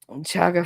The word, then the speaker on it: Chaga: Um, Chaga first sounds like a short O sound. Chaga, chaga, chaga, choga, choga, choga.